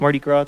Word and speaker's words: Mardi Gras: And also, it was, I believe, the last day of Mardi Gras.